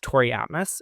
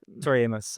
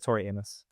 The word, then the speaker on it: Tori Amos: But another artist that I noticed that you have extensively covered is Tori Atmos. Is that how you say it? Tori Amos. I don't know. I've always said Tori Amos.